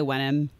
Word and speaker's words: Wenham: But I'm going with Wenham or Wenham. Yeah, I think it's probably Wenham. Yeah, you probably just leave out the H.